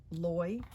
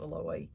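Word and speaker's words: Loïe: um here's the dancer loy fuller and the eye has got this accent here i guess that's pronounced alloy i took some little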